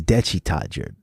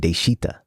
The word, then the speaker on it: 대취타: all by saying that we mispronounced the word this entire time have we dechita no no no yeah it's dechi toddger we've been saying deshita really dead that's what